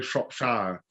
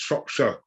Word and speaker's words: Shropshire: A lot of Americans say Shropshire, which is not good. No, it's Shropshire.